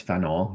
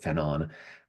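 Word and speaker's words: Fanon: 1960s uh by France Feno, who was uh you know, sometimes people just pronounce it Fenon.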